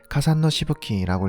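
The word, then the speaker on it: 霞散の飛沫: 일본어로는 카산노 시부키라고 읽습니다.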